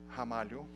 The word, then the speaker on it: Ramalho: so my last name you pronounce as if it started with an age hamu uh that's in Portuguese that's how we pronounce the are in the beginning of a word so that's that's where